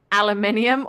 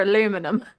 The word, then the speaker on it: aluminium: important question is it aluminium or aluminum well that I mean if you're so regionally it's I mean if you're matching the spelling it is aluminium but we don't say it like that yeah that's what I